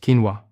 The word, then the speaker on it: quinoa: The grain I'm talking about is quinoa, pronounced quinoa.